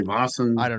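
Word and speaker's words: Vaesen: Uh I call it Vasent. Some people say Vassan. I'm not I'm not Swedish, so I call it Basin.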